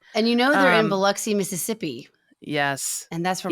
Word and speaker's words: Biloxi: They do pronounce Biloxi wrong. They say Biloxi the whole time. I know, it's Biloxi. like, hey, Hollywood, it's Biloxi.